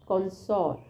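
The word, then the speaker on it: connoisseur: याद हो जाएगी और जिसका साउंड है कनस पर स्पेलिंग बहुत अलग है अब मैंने बोला कंसर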